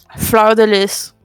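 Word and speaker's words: fleur-de-lis: Fleur de lis. Oh, he said it with a B. I think he would know. I said a fleur de lis. Yeah, that one. You clearly don't pronounce the S.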